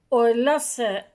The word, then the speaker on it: Hohenlohe: Estaba leyendo sobre los Oelose, se escribe Hohenlohe. Era pues el antiguo Kaiser, etcétera, la familia, una familia antiquísima que proviene de Suabia, de un castillo que se llama así también, Oelosa, y hay gente que